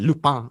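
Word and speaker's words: Lupin: the newer stuff like lupa so that's at time recording loop pin is how it's spelled but lupa is how you pronounce it in french right have you heard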